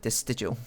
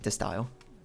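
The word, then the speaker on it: De Stijl: like a dutch movement d e space s t i j l except i didn't know how to say it so i was like this digital or something i think it's like this style that's how you meant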